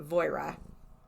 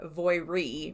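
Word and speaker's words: Voirrey: So, last podcast on the left called her Voira. Okay. M called her Voiri because that's like phonetically how it looks. Okay. And Dark History said Voire. And he's actually English, so he probably is correct.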